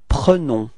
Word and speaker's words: prenons: It's nous prenons. Okay, and keep in mind that e is pronounced like e. Okay, nous prenons.